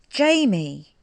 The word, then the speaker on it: Jayme: a y m e but that's pronounced j me jamie isn't it and he has done